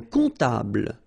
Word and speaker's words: comptable: Un comptable, so OM, remember, it goes like on, all right? And then, strangely, this P is not pronounced.